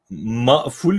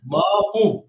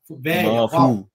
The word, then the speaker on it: mafuv: Maful mü yani? Mafuv. Mafuv. Ha, mafuv.